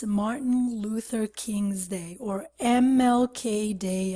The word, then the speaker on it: Luther: Okay, Luther. Again, guys, we have the TH, and so we have to pronounce it as Luther.